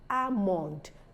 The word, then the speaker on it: almond: that is taking so it's not almond not rather it's almond that makes that a longer asan almond almond the word calf the